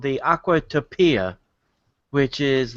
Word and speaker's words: Aquatopia: autopia ride yeah like aquatopia aquatopia yeah you put the emphasis on the wrong salel yeah exactly but this